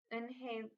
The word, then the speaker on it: Eunhae: Eunhae looked quickly at Mr. Kim and turned to Joey. She nodded slowly. Yes, It's pronounced Eunhae, and it means grace, Mr.